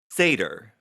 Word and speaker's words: satyr: Satyr. Satyr. Not satyr. Satyr. I- It's Satyr. Okay. Goat people. Satyr. Is it satyr? It's Yes. satyr. Fuck. Or satyr, but the emphasis is the first syllable.